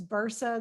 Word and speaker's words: Bursa: It is, it's spelled. The last name is Bursa, that's as in boy, Ursa.